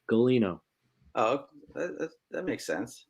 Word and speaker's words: Gulino: Galino. Oh, that makes sense. Proper East Coast Italian, you know. Galino, dude.